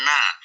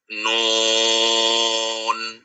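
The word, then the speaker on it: نٓ: Kalau secara syariat agama, maka di dalam firman Allah diceritakan ini dibaca nun ya, bukan na. Nah, nun ah membacanya begitu.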